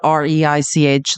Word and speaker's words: Reich: professor at UC Berkeley it's spelled r is spelled re i c h like Reich um he's a genius he